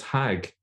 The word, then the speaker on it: Hajj: In fact, in some Arabic-speaking countries, including Egypt, they still pronounce it as Hag.